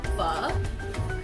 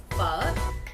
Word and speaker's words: phở: By the way, it's pronounced pho. The O has a little question mark at the end of it, so it sounds like a question. Pho. The tone goes up. Pho.